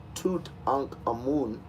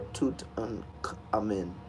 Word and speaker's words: Tutankhamun: His name would be pronounced Tutankhamun or Tutankhamun. You can say that.